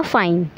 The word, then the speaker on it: F9: Next है F9। यहाँ पे जब इसको आप प्रोनाउंस करेंगे तो ये साउंड करेगा फाइन।